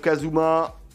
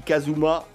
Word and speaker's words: Kazuma: Voilà, on va dépop quelques pièges aériens pour le joueur des Queen Walker pour Kazuma. Ah pardon, Kazuma. Excusez-moi, puisqu'on est sur les prononciations, mais en japonais, ça se dit Kazuma.